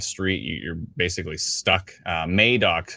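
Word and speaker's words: Madoc: you're basically stuck uh May dock yeah sorry we've been pronouncing madok wrong the entire time so our apologies I think we said Maddock 100 times so uh again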